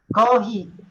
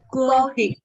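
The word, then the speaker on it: コーヒー: Kohi. Kohi. Coffee. Pero sa English yan ay Coffee. Coffee.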